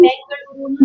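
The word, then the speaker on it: ಬೆಂಗಳೂರು: பெங்களூர்னு சொல்லலாம், பெங்களூருன்னு சொல்லலாம். பெங்களூர் அப்படிங்கிறது பெங்களூரு அப்படின்னு சேஞ்ச் பண்ணிருக்காங்க. சொல்லும் போது பெங்களூரு. நீங்க எங்க இருக்கீங்கன்னா பெங்களூர்ல இருக்கேன் அப்படிதான் மோஸ்ட் பீப்புள் ஆர் டெல்லிங்.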